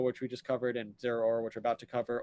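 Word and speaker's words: Zeraora: On to Zerora. Sure. That's how you pronounce it.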